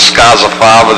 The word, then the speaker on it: Scozzafava: And the only thing I'm going to leave with is that Scozzafava, the way you pronounce it, Scozzafava, the meaning of the name means bean sheller, I thought it was bean picker.